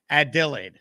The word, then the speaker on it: Adelaide: after you for sure ad delay ad delay add delay there we go ad delayed that's the phonetics pronunciation thank you to Sarah